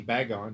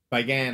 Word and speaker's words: Bagan: Matter of fact, it reminded me of I say Bagon. You pronounce it different. You said Bagon? Is that Bagan. How you pronounce it? Sludge? Bagan.